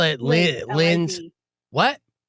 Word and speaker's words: Liz: L-I-Z. What? L-I-Z, Liz, not Lynn.